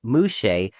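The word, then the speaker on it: muxe: The mukes, pronounced mush of Wajaka, Mexico.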